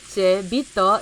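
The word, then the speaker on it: Beato: Bito, and Bito. Okay. Only first Twilight first game. Yeah, it's going to be the Italian pronunciation.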